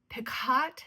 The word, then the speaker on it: picot: I added some the picott spelled p it's spelled picott but you pronounce it pico elastic kind of like